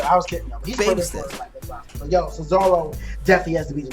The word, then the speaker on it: Cesaro: It's pronounced Cesaro.